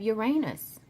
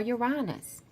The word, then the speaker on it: Uranus: after that we have Uranus or you're on us or Uranus however you want to pronounce it so your anus is a huge planet